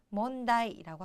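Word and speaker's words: 問題: 문제, 몬다이라고 하죠. 그런데 자, 일단 제자는 문자는 몬 약간 발음 비슷하지만 제자가 좀 특이해요.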